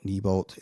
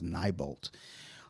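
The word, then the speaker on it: Neibolt: Uh, nyol, kneebolt, and like every time I hear them say it, I know they're saying it right, but then I read it as nybolt.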